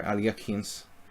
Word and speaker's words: Alekhine: amount of people that have actually played the Alekhines or Alyakhines.